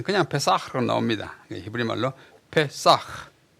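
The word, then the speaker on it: פסח: 히브리 말로 페사흐. 요 끝에 요 점을 하나 찍은 것은 요 글자가 좀 그냥 페사가 아니고 페사흐 발음을 나게 하는 그런 발음 기호예요.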